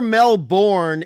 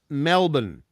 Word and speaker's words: Melbourne: a party killer it's it's never Melborne it's Melbourne Melbourne and and it's never